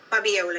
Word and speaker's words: Fabiola: from hello hello fabiola how do i pronounce f-a-b-i-o-l-a fabula fabiola is fabiola i'm sure the words